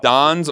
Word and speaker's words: Don's: only closed not that Don's or Dawn's? I think it was. Are you pronouncing it that way? Is it Don, like Dawn, or is it Dawn, like a female named Dawn? D-O-N, Don.